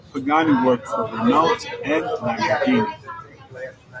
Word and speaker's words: Lamborghini: Prior to founding his own company, Pagani worked for Renault and Lamborghini. Correct pronunciation, Lamborghini.